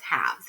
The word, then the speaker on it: halves: so and the spelling because when we say halves we don't hear that silent letter there when we write it we can think to ourselves howls right that's not how we say it but when we write the word haves it has like that silent l in their halves all right and there's